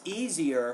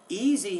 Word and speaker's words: easier: it's easier easier it's easier for me so be be careful with those final endings there I wasn't quite sure if you're saying easy or easier easy has two syllables easier has three let's listen to it